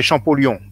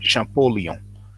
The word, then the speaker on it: Champollion: Now, in French we say Champollion, but in English you pronounce it Champollion.